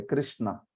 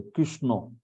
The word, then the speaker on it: कृष्ण: का ज्ञान होना चाहिए कृष्णा ऐसा उच्चारण होता है क क संस्कृत में कृ होता है रकार होता है कृष्णा न भी नहीं ण श और ण ऐसा होता है व आपकी जिवा जो